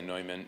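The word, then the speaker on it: Neumann: John I pronounce it Newman some people say noman not John Henry but the bishop of Philadelphia.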